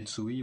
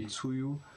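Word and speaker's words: Tzuyu: qu'en fait c'est juste Tsui, le U, du coup le premier U se prononce comme un OU, comme chez les nordiques, et le deuxième en fait se prononce pas.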